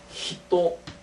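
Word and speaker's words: 人: 사람을 얘기할 때 이렇게 사람 인자를 써놓고는 히도 이렇게 읽고요 이제 이거의 존경은이 방자를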